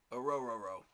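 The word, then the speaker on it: Orhorhoro: I'm looking at Ruko Rororo. And yes, that is how you say his last name. Orororo.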